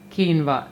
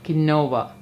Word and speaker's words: quinoa: Also note that quinoa is written as quinoa, but it is pronounced as quinoa, not quinoa.